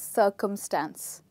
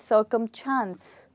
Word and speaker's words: circumstance: A lot of English learners tend to call it circumchance, which is wrong. We don't have any CH in the word. We only have S. So the word is actually circumstance and not circumchance. Okay, now when we talk